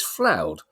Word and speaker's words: Floud: with my name previously but it's floud pronounced cloud with an F so if if I